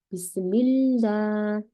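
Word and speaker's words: بسم الله: 그죠 미 이때는라 라가 작아져요 그래서 라가 아니라 비스밀라 스밀라가 됩니다 여긴 작은 알라가 되고요 알라가 작다는게 아니라 발음이 작다는 겁니다네 그래서 알라는 그런 또 특별한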